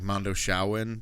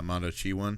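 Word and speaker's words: Mondoshawan: so so they're the it's spelled out like Mondo shaan but you know they were pronouncing it in the movie as Mondo chian yeah so that's how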